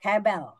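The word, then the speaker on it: הֶבֶל: Hebel. V bacanya B. Hebel yang tidak hanya berarti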